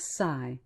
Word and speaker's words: psi: clear audience psychokinesis are known as Sai which is spelled PSI what is the derivation